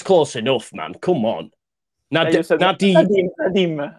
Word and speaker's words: Nadiem: Nadiem, like the Danish female striker. Okay, so Nadiem Amiri.